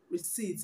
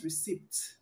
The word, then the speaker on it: receipt: is usually silent so the word receipt is not receipt but receipt the p is silent the word call like